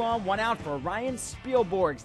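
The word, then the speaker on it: Spilborghs: one out for Ryan spiel borgs that's a silent h in there at the end a three-run blast his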